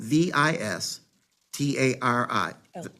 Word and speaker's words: Vistaril: And it's spelled Vistari. L.